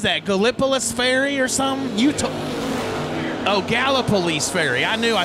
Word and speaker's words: Gallipolis Ferry: Gallipolis Ferry.